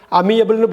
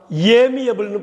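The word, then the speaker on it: amiable: அமியபிள்னு படிக்கிற மாதிரி தோணுதா? ஆமாம், ஏமியபிள்னு படிக்கணும். ஏன் தெரியுங்களா?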